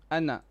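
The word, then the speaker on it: أنا: you know this word anna yes it is written with alif but it is not pronounced the alif is silence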